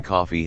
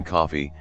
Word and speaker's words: Coffey: The giant John Coffey has mental limitations, advising everyone he meets that his name is like the drink only not spelled the same, and crying on his